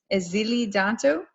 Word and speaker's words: Èzili Dantò: So I am pleased to introduce Miss Èzili Dantò. Did I pronounce that right?